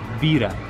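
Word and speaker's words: בירה: Se dice bira. Bira. Es cerveza.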